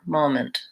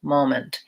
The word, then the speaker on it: moment: is very short and I would say that people almost leave the vowel out entirely it's so short moment moment and so a dictionary